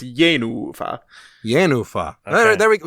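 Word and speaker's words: Jenůfa: I think it's an accented first syllable and a long unaccented second syllable. So it's Yenufa.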